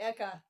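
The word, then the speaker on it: ECCA: things to know about, I think it's pronounced Eka. Kara, what are the people in DC calling the $5 Right. billion choice bill? Exactly. Eka.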